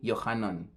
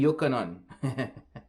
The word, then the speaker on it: Johanan: the life of me they can't say johanan they say yokanon and so they like to argue that you have to pronounce this guy's name a certain way and they don't take them to learn how to pronounce those guys names you know they don't take the time they just have this problem with letter J but they don't realize the same argument destroys the letter Y and don't point me